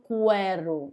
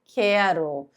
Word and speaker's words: quero: Eu não falo querero, eu falo quero. Então são duas letras que formam um único som, mas não acontece em quase porque u são pronunciados de forma separada.